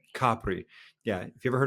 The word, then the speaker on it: Capri: They say Capri. Capri. Yeah. If you ever heard of Capri Pants or Capri Sun, named after this island, but if you're in Italy, you you'll want to pronounce it Capri.